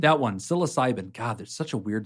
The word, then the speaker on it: psilocybin: So there's been a lot of talk lately about how do you use magic mushrooms, or I believe it's pronounced psilocybin? That one, psilocybin.